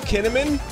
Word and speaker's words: Kinnaman: Joel Kinnaman Chad Joel kinnamon yfp is your favorite actor and if you've never heard of him also his name rhymes with cinnamon Joel kinnaman's underrated